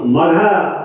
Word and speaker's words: मघा: माने मघा नक्षत्र में, उधर के लोग मखा मखा बोलते हैं, इधर मघा है, मघा उसको उच्चारण दक्षिण उत्तर फर्क पड़ता है।